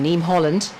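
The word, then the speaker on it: Niamh Holland: That's how you pronounce it, her name. Yeah. The Irish name, Neem Holland.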